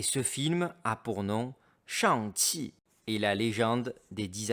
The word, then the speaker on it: Shang-Chi: Eh oui, vous avez bien entendu la prononciation est Shang-Chi, Shang-Chi. Et elle a une phonétique un peu différente en Chine continentale, S-H-A-N-G-Q-I. Et non C-H-I.